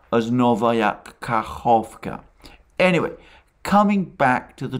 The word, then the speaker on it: Novaya Kakhovka: I have been omitting by accident the last K.